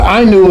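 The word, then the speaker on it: Ainu: The Inu is spelled A I NU and they're very very ancient people in Japan.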